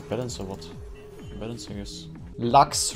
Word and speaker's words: Lux: Lux rhymes with fucks.